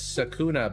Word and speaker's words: Sekuna: It's Sekuna, by the way.